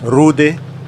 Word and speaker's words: Rudy: long back it's tier six Russian medium the Rudi actually properly pronounced as Rudi the tank is based on a Polish TV